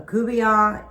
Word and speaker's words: Couvion: So a Couvion is nothing more than fish with a tomato gravy, and it's spelled Coubion.